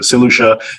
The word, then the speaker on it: St Lucia: I look online, and people don't even know how to pronounce the island. They're saying all sorts of variations. So St Lucia, for those who don't know how it's pronounced, so St Lucia is one of 5